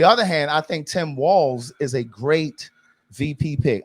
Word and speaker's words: Walz: And before I go into some of the things that he's done, his name is Walz, okay? It is not Waltz. Like Walls, like in here. Right. And in here. It's pronounced like Walls.